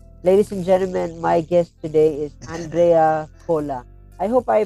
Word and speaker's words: Andrea Cola: conversation ladies and gentlemen my guest today is Andrea Cola I hope I pronounced it right pal yes yes hello hello